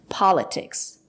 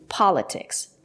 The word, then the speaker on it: politics: talk about the pronunciation it's not correct to say politics there is a stress after the letter T we pronounce the letter t as politics politics not politics and now let's talk